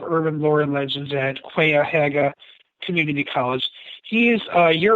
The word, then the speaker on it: Cuyahoga: It's Cuyahoga, which rhymes with by a toga, not Cuyahoga, which is what he said.